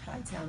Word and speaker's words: Chi-Town: I am in Chi-Town.